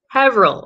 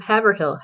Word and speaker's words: Haverhill: Patrick's Cemetery in Haverhill. Oh, I said it right. I usually butcher it, but I did it right. Instead of Haverhill, Haverhill.